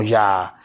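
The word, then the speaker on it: יה: forma simplificada de YH, la cual traducida al español se pronunciaría como Ya, la cual desde el libro de Éxodo hasta Isaías se encuentra 50 veces.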